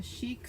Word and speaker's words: Chic: I say fun because I love this little element from the Chic Suite.